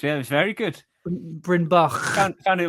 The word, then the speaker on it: Bryn Bach: table, which is called Bryn Bach, which is, do you hear that little Welsh pronunciation at the end? I did. Yeah, it was very good. Bryn Bach.